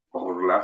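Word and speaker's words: ערלה: Orla se pronuncia.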